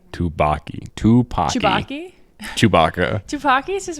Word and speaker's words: Tupaki: perfect Evelyn to take down Joy, or Jobu Takaki. Tupaki. What was I saying? Tupaki? You were saying Tupac. I said Tupaki this time. I said it right. Tupaki.